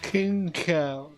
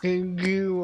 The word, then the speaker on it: Xingqiu: King Cow. That's how you pronounce it. I've been calling him like King Q or something.